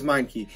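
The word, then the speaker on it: Meinke: trading matthew stafford away oh my key or meineke i think it's mine key that's how you say his name he works with m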